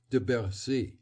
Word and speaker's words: de Bercy: a native of Paris the difference between the two was clearly shown by their pronunciation of De bersi winter sounded three distinct syllables for no practically two with a slurred r that winter could not